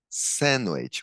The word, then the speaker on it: sandwich: Bacon, ham, que é o presunto, ham, cereals, então cereais, cereals, sandwich, a pronúncia aqui, ó, sandwich, o D é mudo, o sanduíche, algum lanche, sandwich, pancakes, as panquecas, pancakes, e talvez um bom combinado, bread, butter and jam.